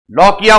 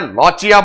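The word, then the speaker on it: lochia: लॉकिया बोल देते हैं, लॉचिया बोल देते हैं, आप जैसे प्रोनाउंस करना चाहे कर देना, अपन लॉकिया कर देंगे।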